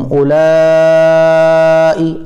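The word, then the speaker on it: أولاء: हा तुम उलाई, अब वाव साइलेंट रहेगा क्योंकि वाव के ऊपर जज़्म नहीं लग रही है, उलाई तुहिब्बूनहुम वला युहिब्बूनकुम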